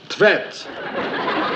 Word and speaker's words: Tvedt: How would you pronounce that then? Tvet. T-V-E-D-T.